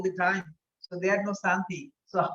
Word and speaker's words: Shanti: Like when we say Om Shanti, Shanti, Shanti. As a European, you say Om Shanti Shanti. That means you don't pronounce properly because you need to put the tongue proper palate.